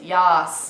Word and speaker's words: yaaas: It's so with an A. It's yas. Not Yas. yes. It's Yas. yas. Like It's sort of like a drama queen saying yes.